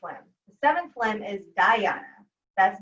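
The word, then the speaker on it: dhyana: i'll tell you about that so da harana is spelled d-h-a-r-a-n-a daharana so that's the sixth lane the seventh limb is diana that's n d-h-y-a-n-a and that means meditation and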